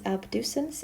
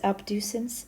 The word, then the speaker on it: abducens: nerve number six is abducens abducens sounds like the word um to like abduction to take away abducens and uh remember that